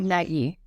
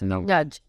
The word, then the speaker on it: Nagy: It's not Nagy. It's pronounced Nudge.